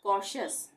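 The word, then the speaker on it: cautious: यहाँ पे टी के बाद क्या आ रहा है, टी के बाद आई ओ, तो श का उच्चारण होगा टी के लिए, न्यूट्रिशियस। इसी तरह से कॉशियस, ये है टी के बाद आई ओ आ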